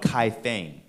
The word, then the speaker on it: Kaifeng: uh literally in what's today modern China called Kai thing uh that's spelled k-a-i-f-e-n-g Kai Feng uh a trade Outpost as far